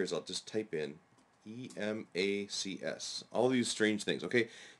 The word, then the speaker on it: Emacs: And what I'll do here is I'll just type in E-M-A-C-S. All these strange things, okay? This is just the editor which SWI Prolog has built into it. So, just type Emacs is how it's pronounced.